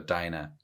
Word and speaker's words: Dinah: second he touched uh dinah that that's how they're pronouncing it right yeah well i'm gonna say dina fair enough um and